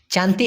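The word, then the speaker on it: cantik: আমরা অনেকেই জানি সি এন টি আই কে উচ্চারণটা হলো চান চান্তি মানে হলো সুন্দর কিন্তু পুরুষ মানুষকে যদি আপনি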